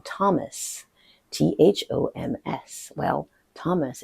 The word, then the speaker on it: Thomas: Well, Thomas is pronounced Thomas, well, in American English, but the TH sound does not exist in French.